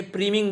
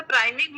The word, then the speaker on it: priming: प्राइमिंग में नहीं, प्रीमिंग बोलें, प्रीमिंग, स्पेलिंग क्या है सर? P प्राइमिंग? PRIMING। हाँ तो सर प्राइमिंग ही है, प्रीमिंग नहीं है, प्राइमिंग।